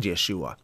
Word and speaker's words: Yeshua: be saying Jesus and Yeshua. And I say that because most people know him as Jesus, and I think that the Hebrew pronunciation of Yeshua would probably, that would be better.